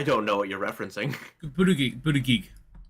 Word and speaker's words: Buttigieg: Buttigieg. Oh no, not booty gig.